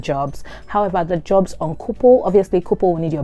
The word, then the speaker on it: Coople: And another helpful app that I've found, thanks to my friend Tolu for recommending it, is Couple. So it's spelled COOPLE.